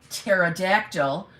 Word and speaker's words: pterodactyl: can't you hear uh pterodactyl going to the bathroom because the p is silent number two what do